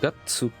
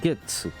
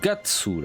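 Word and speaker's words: 月: prononce audessus Gatsu et pas GSU c'est gatsou là donc rappelez-vous le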